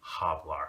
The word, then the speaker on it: hablar: people they want a hablar I actually this mobsters like hablok hoy you don't want to do that so what you should say is habla so you want to make that H silent if it's at the